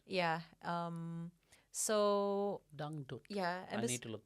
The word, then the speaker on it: dangdut: It's called dangdut. Oh, how do you spell it again?